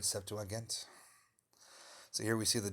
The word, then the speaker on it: Septuagint: a letter talking about the writing of the Septuagint, I think it's pronounced, which is like the first translation of the Greek Bible from Hebrew to Greek.